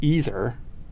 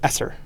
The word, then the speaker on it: Eser: It's ESER, which is Ezer, which actually is a derivative from Ezer in the Bible, which means helper. Right. But people try to add another S and make it Esser all the time.